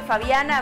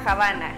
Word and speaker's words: Fabiana: En vez de decirme Fabiana, me decía Habana.